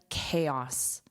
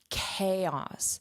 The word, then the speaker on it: chaos: Chaos. So, this ch is pronounced as k chaos.